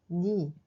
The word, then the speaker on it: 네: Mais dans ce cas, on prononce plutôt comme ni.